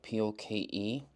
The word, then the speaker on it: poke: that right there is called a poke ball it's spelled p o k e but the proper pronunciation is poke and usually